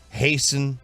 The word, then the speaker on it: hasten: it wow okay um generally the t is silent in like soften hasten hasten yeah it's not something